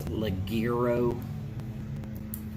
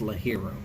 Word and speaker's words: ligero: that you find something that is a double la hero and it looks like it's ligero but it's pronounced la hero a very good strong hopefully you'll be able